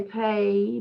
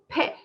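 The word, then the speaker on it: phaṭ: of the mantra pair phet that's like um expelling all the negativities so you don't say pay but you say pe so that all of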